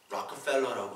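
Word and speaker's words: Rockefeller: 그 락펠러라고 하거든요. 락펠러 발음이.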